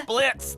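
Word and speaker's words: Blitzø: Uh Blitzo. The O is silent.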